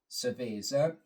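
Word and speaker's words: cerveza: beer or as it is pronounced in Spanish language survea for a lower volume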